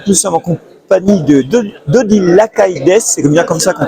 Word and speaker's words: Lacaille: Donc nous sommes en compagnie d'Odile Lacailles, c'est bien comme ça qu'on prononce.